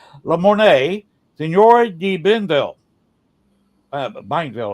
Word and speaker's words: Bienville: Bienville, I believe is the correct pronunciation.